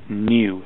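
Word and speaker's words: nu: a tail on it it's a Greek letter and it's pronounced new so that's frequency how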